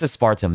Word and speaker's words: aspartame: Okay, it's aspartame.